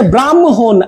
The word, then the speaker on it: ব্রাহ্মণ: এখানে হচ্ছে ব্রাহ্মণ, আগে দেখেন উচ্চারণে আগে মটা আসবে, ব্রাহ্মণ আগে ম পরে হ, কিন্তু যুক্ত বর্ণে ছিল